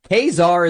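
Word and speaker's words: Ka-Zar: is a Victoria hand card generation Kazar is how it's pronounced.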